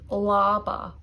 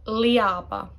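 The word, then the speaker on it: leaba: Bed is laba, laba. It's not liaba. So that's a common mistake. People think it is like ia. The A dominates. So the E is practically silent there.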